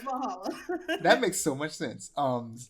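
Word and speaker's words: VA-11 Hall-A: No, it's Valhalla.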